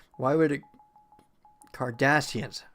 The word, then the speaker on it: Cardassians: Cardassians. I should say Cardassians. It's the emphasis on the S.